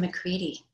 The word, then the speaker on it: McCready: Dixon McCready, rhymes with seedy.